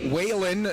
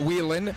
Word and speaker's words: Whalen: us some help on, first off, Whalen, not Whelan, and so I apologize for that, and Laundry.